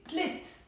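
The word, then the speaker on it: تلات: But then I say tlit. Notice here, tlete, tlit. What did I do? I dropped the te marbuta and the a sound. Tlete becomes tlit, one syllable.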